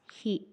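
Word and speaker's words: ヒ: Katakana hi, pronounce as hi.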